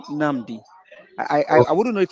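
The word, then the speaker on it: Nabi: So that name is pronounced as Ṣẹ́gun Nàbí.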